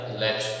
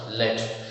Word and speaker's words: lead: So China also is good for producing some other things like lead. It is not lead, it is a name of metal, so we have to pronounce it as lead.